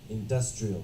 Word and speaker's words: industrial: this industrial all right so if it's the adjective the stress is on the D industrial but the now industry